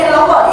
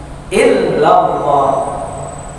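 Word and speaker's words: إلا الله: Ada lagi bacanya panjangnya benar, tapi tasdidnya illallah hilang dia. La ilaha illallah, la ilaha illallah, illallah. Salah lagi dia, mestinya lamnya double 2 Pak, tasdid illallah.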